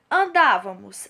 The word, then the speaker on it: andávamos: Andávamos. Andávamos é uma proparoxítona. Olha só, é a antepenúltima sílaba que é a mais forte.